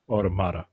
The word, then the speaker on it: Automata: automata or automatic and we get a definitive pronunciation Amata automata all right near automata on my poor poor